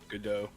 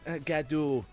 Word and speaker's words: Gadot: that what's the one thing that gal gadot good doe thank you good try good good joe i was gaddu it's okay it's foreign it doesn't count as